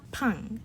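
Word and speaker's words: 빵: 밥, 팡. That 팡, that double B, sounds like an aspirated P, kind of like a hard P.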